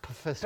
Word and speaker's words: Pfister: It's pronounced Pfister.